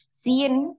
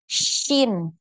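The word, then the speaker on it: شين: Nah, jadi bukan sin gitu ya bacanya, tapi di tengah lidah. Tengah lidahnya dinaikkan ke langit-langit. Shin, shin. Jadi jangan shin. Nah, jangan terlalu fokus ke y ya. Ada huruf y di tengahnya. Jadi shin ya.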